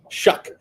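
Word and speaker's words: Shough: Am I saying it right? Shug? Am I Shuck like Chuck? Shuck. Okay.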